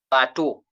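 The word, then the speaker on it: bateau: So remember the E-A-U produce the sound O. So that word you should read it as bato.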